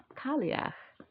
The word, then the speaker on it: Cailleach: to read them all like they're just American like that's exactly what it would sound like cal cal Le but it's not American so it is the kak is how I heard it um pronounced so kak all right